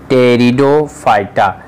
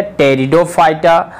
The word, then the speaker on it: Pteridophyta: आता है, लिख लीजिए, टेरिडोफाइटा। इंग्लिश में भी लिख देते हैं, पी साइलेंट होता है, PTERIDOPHYTA। ये क्या हो गया? टेरिडोफाइटा।